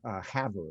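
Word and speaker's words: Havre: and finally up to ha haver is how they pronounce it um and spent a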